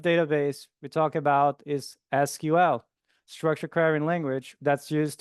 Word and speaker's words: SQL: Now, for SQL, as we usually pronounce, other people say SQL, doesn't matter.